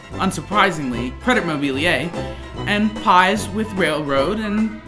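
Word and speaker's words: Crédit Mobilier: have to do with credit mobilia no it's pronounced credit mobiler oh whatever I don't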